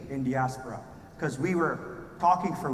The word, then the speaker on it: Indiaspora: people have asked me how do I pronounce this name right so we call it in diaspora some people call it